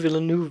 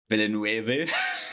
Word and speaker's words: Villeneuve: we're getting the denis villeneuve version Villanueva didn't oof I think it's pronounced Villeneuve I know I'm just